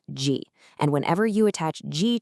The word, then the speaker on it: 時: It's pronounced ji.